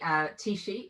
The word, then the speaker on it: Tishi: Tishi is how you say my surname, but I'm a nutritionist and also an author of quite a few books.